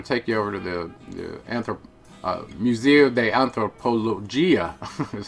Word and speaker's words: Museo de Antropología: We're going to take you over to the Museo de Antropología, is how it's pronounced in Spanish.